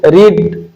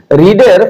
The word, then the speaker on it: read: ভারব ভারব না কারণ রিডের fast form এবং পাস্ট পার্টিসিপলের উচ্চারণ হয়ে যায় রেড এখানে একটি বাল সাউন্ড এখানে ছিল রিড আর এডি কিন্তু উচ্চারণ করার সময় এটা উচ্চারণ হয়ে যাবে রেড তার মানে এখানে উচ্চারণ